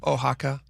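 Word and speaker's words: Oaxaca: Ohaka. That's you got to pronounce it right.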